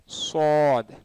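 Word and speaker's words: صاد: அதனால இது வந்து எஸ்யூவிடி மாதிரி தான், அது யூ வந்து சைலண்ட், சுவாத் சுவாது, சரிங்களா.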